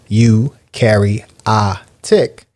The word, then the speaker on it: eukaryotic: is pro equals no eukaryotic cells pronounced you carry a tick do have a nucleus